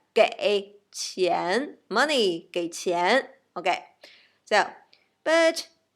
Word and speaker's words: 给: And if we want to pay somebody's money, okay, so we say 给 gave, 给 gave, 给. So same pronunciation. English gave, Chinese 给.